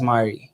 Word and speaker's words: Mari: I say your name how do I say your name right you gave me a look how do you feel you should say it like listen to your heart so it says I feel like I should say as Mari exactly okay there we go so